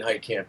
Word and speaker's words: Heitkamp: Is that how I pronounce it? Brandon Heitkamp.